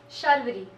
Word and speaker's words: Sharvaree: Sharvaree. Sharvaree. There's like two R's in it. So Shar.